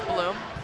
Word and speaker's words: Blum: I've been calling him Blum the whole game, but I've been informed that his pronunciation of his last name is Bloom.